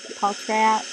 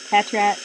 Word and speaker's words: Patrat: Fairy, Energy, Paltrat. Patrat. Sorry to the viewers that I don't know how to pronounce them.